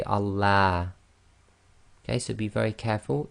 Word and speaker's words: Allah: pronounced the first one if the word before the word name of Allah it has a Khasra sound ie the last sound before the name of Allah is going to be a casserole then we're going to pronounce the Lamb of Allah in a light fashion ie terapy so that's